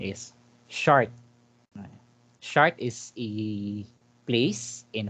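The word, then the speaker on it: Chartres: short cathedral in shark friends but the correct pronunciation is shard chart is a place in france cathedral so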